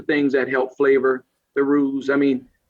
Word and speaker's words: roux: So roux, so you need to spell that R-O-U-X or something, right? X, there you go. But roux, you call it roux.